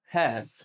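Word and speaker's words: half: جاء بعده حرف ساكن وبيكون اخر حرف مش بننطق حرف الال فبنقول وك توك توك ثالث حاجه هاف ثالث حاجه هاف يعني منتصف يا ترى اتلخبطت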